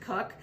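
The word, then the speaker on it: Koch: cook or i'm sharon k cook is spelled k-o-c-h um we pronounce it cook and um this is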